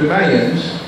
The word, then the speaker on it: Mayans: The Mayans, as they called themselves, and Mayans, as I was taught was the correct pronunciation, were a race that was very agronomistic, and they did one thing well, kill.